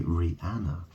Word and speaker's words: Rihanna: begins ran Ranna obviously there's the silent h that's in there right so r i silent h cuz no one says rean they say Rihanna um so it's got